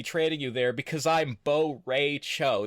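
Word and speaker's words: Bo' Rai Cho: you there because I'm Bo Ray Cho. That's how he pronounces his name.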